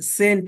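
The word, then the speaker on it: cent: एन टी का तलफ्फुज सेंट होता है सी ई एनटी का तलफ्फुज सेंट होता है लेकिन सी ए एनटी का तलफ्फुज कैंट होता है तो दोनों में सी है लेकिन तलफ्फुज अलग-अलग है तो आइए कुछ ऐसे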